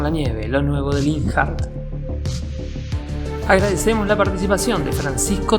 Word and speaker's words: Linhart: otro lado realmente en alemán se pronunciaría linart porque en alemán la H no se pronuncia esa sería la pronunciación